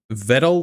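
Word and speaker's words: Vedal: I'm for now I'm going to say Vidal, but some people were Viddle like pedal.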